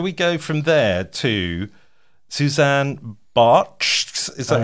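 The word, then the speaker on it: Susanne Bartsch: Anyway, shall we go from there to Suzanne Bartsch? Is that how you pronounce it?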